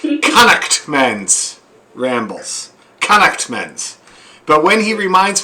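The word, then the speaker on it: Connaughtman's Rambles: not pronouncing it correctly the correct pronunciation as reminded to me by my friend brian every time i say it is connect men's rambles connectments but when he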